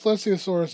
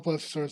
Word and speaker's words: plesiosaurus: Now the thing with plesiosaurus itself is that plesiosaurus or plesosaurus depending on how you say it actually isn't that big compared to other plesiosaurus.